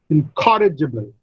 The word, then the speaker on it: incorrigible: Incorrigible. Incorrigible. Now, there are 5 syllables. The second syllable receives the primary stress.